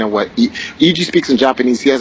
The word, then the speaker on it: Eiji: So, I just sent you the interview with EG, and I spelled his name wrong, but it's EIJI. So, you got it.